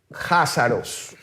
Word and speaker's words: Jázaros: Se pronuncia Cásaros, que se pronuncia así, Cásaros con K, pero suena Házaros con J.